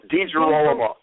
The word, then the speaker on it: DeGirolamo: Say it. DeGirolamo. I said it right.